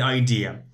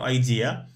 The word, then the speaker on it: idea: that's a good idea be careful with this pronunciation some students within say idea now it's idea not idea because the stress on ESO say idea idea